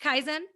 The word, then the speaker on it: Kaizen: So, Kaizen, is it pronounced Kaizen?